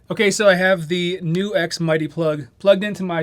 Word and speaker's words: NuX: got the pronunciation right it's not nux it's new x thank you all for